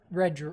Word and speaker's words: Red: It's Reed, right? I feel like I've watched it enough. Maybe it's Red. I mean, it's spelled Red. So, Red Gerard.